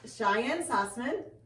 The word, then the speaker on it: Cheyenne Sussman: So we decided to head down to Patina, and this is Cheyenne Sussman, I said it right?